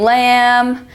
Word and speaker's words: lamb: final MB as in Lamb thumb and comb the B is silent at the end we have the initial